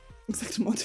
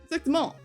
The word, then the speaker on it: exactement: I don't feel like it's got the S on the end. How would you? Exactement. I don't think I'd pronounce maybe the T on the end if I was feeling it.